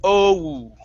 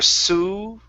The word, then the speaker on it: so: Okay, now when you said this word, remember this is a diphthong. It is oh. Okay. When you said the word, it was a little off. You had said there were su. It was more of an oo, more on the oo than the o.